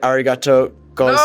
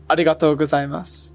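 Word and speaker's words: ありがとうございます: So say when you say thank you very much, that was the tricky one for me because you say arigato gozaimasu. No, it's like arigatou gozaimasu.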